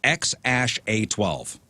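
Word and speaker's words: X Æ A-12: that is wild the the kid's name is pronounced X Ash a12 and if you give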